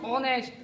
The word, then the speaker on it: honest: ऐसे ही HONEST, ये क्या है, ऑनेस्ट, ऑनेस्ट नहीं है, ओ से बोलेगा, H साइलेंट है इसमें।